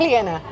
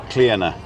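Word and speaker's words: Clíodhna: It's with an I. Because it's short for Cleo. It's Cleona. Cleona. But spelled Cleodna. It's spelled Cleodna, but if Pat would know, there's a shevu on the D, There's which a what?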